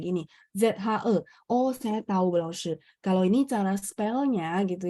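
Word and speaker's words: 老师: Lao shi. Makanya kemarin ada yang misalnya pas open mic dia bacanya lao si. Saya langsung koreksi lao shi.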